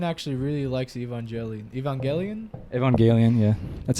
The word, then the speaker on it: Evangelion: boy yeah Kane actually really likes evangeli Evangelion Evangelion yeah that's how they say it in the